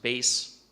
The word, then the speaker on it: bass: examples of this uh the word bass can be a fish or it can be pronounced base and in music mean the Deep low end as in the bass clef versus treble clef so